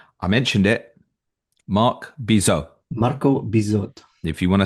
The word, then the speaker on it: Marco Bizot: Marco Bizot. If you want to say it 3 times, make sure you pronounce the T by the time you get to the end.